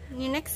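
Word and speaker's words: NYNEX: DH belell atlantick n y next Ang gitu bacanya G tahu ninex gitu Iya iniinex tulisannya bacaannya pada tahun 1995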